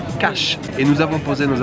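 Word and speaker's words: Kaş: Comme vous pouvez le voir, nous sommes arrivés à Cache, K-A-S, avec un petit truc sous le S qui se prononce Ch, Cache.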